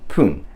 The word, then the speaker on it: 分: But fun becomes pun.